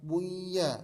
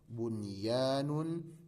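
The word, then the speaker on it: بنيان: Jadi bacanya bukan buya, bukan duya, bukan siwa atau qiwa, tidak. Tapi ini baca seperti adanya. Bunyanun, dunyaya, sinwanun, qinwanun.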